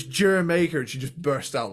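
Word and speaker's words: D'yer Mak'er: Now, it took me till recently diving into this to realize that the song I've been calling Dire Maker is pronounced Jamaica because it's a fucking reggae song.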